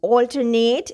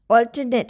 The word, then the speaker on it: alternate: alternate. Here, this vowel is saying the schwa sound, alternate.